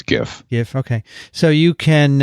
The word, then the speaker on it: GIF: graphic interchange format anyway the g in graphic is a hard g so i think it's gif if okay so you